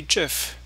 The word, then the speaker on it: GIF: with a review on gift McNamee oops did I say gift well apparently supposed to be Jeff Jia F is apparently pronounced as Jeff not gif yeah that's according to